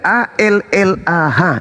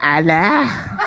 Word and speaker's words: Allah: Begitu juga A L l a H. Itu adalah hak mutlak milik umat Islam. Kamu aja yang memperbodoh diri membacanya Alah. Padahal kaidah membacanya adalah Allah.